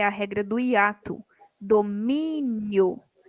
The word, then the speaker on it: domínio: Domínio. Domínio. Penúltima sílaba.